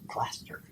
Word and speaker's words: plaister: You rub the sore when you should bring the plaister. Plaster. It's like putting plaster. plaster on. So They spell it plaister.